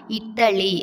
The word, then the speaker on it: இட்டலி: நம்ம எப்பொழுதும் சொல்லும்போது இட்லின்னு தான் சொல்லுவோம். ஆனால் சரியான உச்சரிப்பு என்னென்னா இட்டலி அப்படி தான் சொல்லணும்.